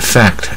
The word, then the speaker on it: fact: 事实就 FACT，可它念是大卷舌啊，蝴蝶音 fact。